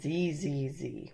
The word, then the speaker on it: Zzz: to the original version it's titled Z Z Z or if you're in Great Britain Zed Zed Zed however pronounced really anyway